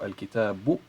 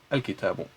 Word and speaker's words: al-kitabu: It is u, and actually this symbol right here is actually a small wow, because it is in a sense, you know, like, what can you say, like phonetically it is a small wow. So al-kitabu, it is not u, which is longer, the standard wow is longer, but the small wow, يعني الضمة, is smaller. U, al-kitabu, right?